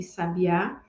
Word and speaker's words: sabiá: é um traço distintivo se você observa essas três palavras sábia sabia e Sabiá percebe que nada além do acento em cada uma das sílabas é que vai trocar o significado de cada uma dessas palavras então em português nós